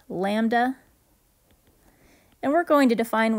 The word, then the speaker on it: lambda: down and backwards y that is pronounced lambda and we're going to